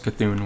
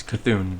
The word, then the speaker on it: C'Thun: Like literally pronounce the C apostrophe as C, and then the rest T H U N was Thun.